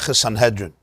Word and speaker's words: Sanhedrin: it in his commentary on gemara so it's pronounced sanhedrin it brings it rambam's words are it's based